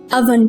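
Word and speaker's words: oven: इसको हम ओवन नहीं पढ़ेंगे, इसको हम अवन पढ़ेंगे।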